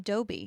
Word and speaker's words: Dobby: what do you got how do you pronounce the elves name dobby see i say dobby too is it because they're from new england because a lot of people call him dobie it ain't dobby when i think of